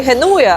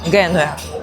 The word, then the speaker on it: Генуя: В в Геною в мене завжди проблема з цим наголосом. Таке хочеться просто назвати і геноє, але це буде неправильно. Я спеціально дивилася, звісно, готувалася до поїздки, дивилася різні відео. І правильна назва міста українською - це Генуя.